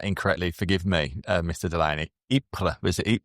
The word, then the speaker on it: Ypres: Ypres, was it? Ypres will work as well, because the Flemish have their own pronunciation.